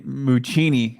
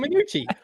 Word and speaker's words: Minucci: I love how you pronounce his name, though, man. Muccini. I love. No, man, Minucci. Minucci. I'm Italian.